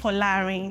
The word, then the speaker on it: Folarin: You know, I didn't pronounce it first. Folarin. Folarin, it means "walk with wealth".